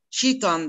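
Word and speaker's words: Jiao Tong: Mesela Şangay'da Chitan diye bir üniversite var. Jitong yazılıyor, Chitan diye okunuyor.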